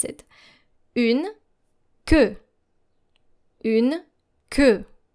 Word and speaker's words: queue: Une queue. Une queue. Now make sure that your E sound is deeper. Queue. Une queue. It's not like que in SQ, but que. Hear the difference here.